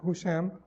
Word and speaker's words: Hisham: See, Zuhri was sitting with Hisham ibn Abdul Malik, or Husham, that's correct pronunciation.